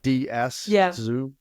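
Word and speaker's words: Tzu: pronounce the last name TZ U which it's pronounced like DS zo yeah but he said if you're depressed you're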